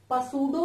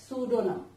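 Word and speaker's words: pseudonym: उसकी स्पेलिंग होती है सुडोनियम. सुडोनियम इसको हम पर नहीं बोलते, पसूडो नहीं बोलते, सुडोनियम.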